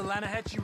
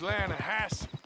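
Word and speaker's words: Lannahechee: the right here I rode down to the linahatchee river I caught some beautiful steelhead trout you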